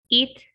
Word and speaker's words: eat: this little thing here eat eat um let's see how do you pronounce this one guys eat and this one it there you go so guys remember eat it so this sound is longer eat it okay so